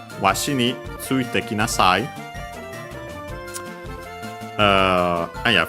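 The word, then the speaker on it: わし: Then we have washi, unaccented, I, again another contraction of watashi, this one used by old people, I cock.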